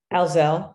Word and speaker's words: Howzell: Howzell, the emphasis on Howzell. the different syllable.